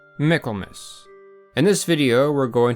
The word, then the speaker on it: Michaelmas: Though the name is pronounced Michael in English, the correct pronunciation of the holiday is Miklmiss for Michael's mass. A bit like Christmas rather than Christ mass.